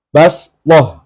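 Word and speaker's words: بَصْطَةً: ayatnya agak panjang yaitu di lafaz basah tulisannya basoh pakai Shad Boh ya Tapi bacanya pakai sinum q B J tulisannya Shad tapi membacanya Sin wadakum fil khalqi basah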